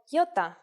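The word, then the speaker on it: ιώτα: is a vowel that you may have heard called iota in Greek though it is called Yota and it makes the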